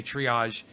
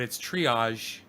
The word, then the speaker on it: triage: He still doesn't know how to say triage. He says triage. And he spells it Triage, but it's triage. I got to teach him the French.